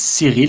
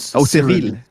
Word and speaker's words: Cyril: It's Cyril in French, but Cyril.